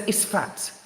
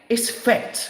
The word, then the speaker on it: Isfet: So, like I said, we all know, right, which race represents Isfat, okay? Isfet, let me say it, pronounce it properly, Isfet, which we talked about before.